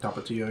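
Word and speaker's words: Tapatío: Yeah, Tapatio, yeah.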